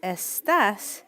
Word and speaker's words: estás: And again, the accent mark matters here because estás is different than the word estas. Estas means these when we're talking about feminine things. But estás with the tilde, pronounced a little bit differently and with a completely different meaning.